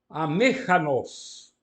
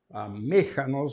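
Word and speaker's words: ἀμήχανος: Amechanos. Amechanos, o acento fica em cima do eta. Reparem, a última vogal é breve, e então o acento pode ficar na antepenúltima sílaba.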